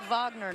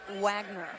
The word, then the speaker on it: Wagner: Off the Bench and he prefers to go by Vagner not Wagner correct cuz that's that's the German pronunciation got to get the